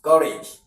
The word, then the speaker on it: courage: Courage is 2 syllables and not 3 syllables. Now, what do you stress? Courage. So we stress ka. But this is rage. Already, the rage is a suffix, so you don't stress it. So because it's a suffix, it's now automatically a noun word. So you stress the first syllable.